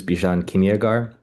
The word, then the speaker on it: Bjan Kimagar: Um, my name is Bjan Kimagar. Uh, even if you don't say it like that, it's fine because I don't even say it like my own family does or it's an Iranian name, a Persian name, ancient Persian name.